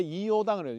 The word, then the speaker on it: 이요당: 그래서이라고 읽으면요 구조를 모르는 사람 보고 기본적으로 앞에이자 붙여이고 락자 있으면 락이 아니고 요로 읽어야 된다는 거.